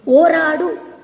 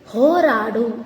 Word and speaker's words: ಹೋರಾಡು: ಓರಾಡು ಅಂತ ಇದೆ, ತಪ್ಪು. ಹೋರಾಡು ಅನ್ನೋದು ಸರಿಯಾದದ್ದು.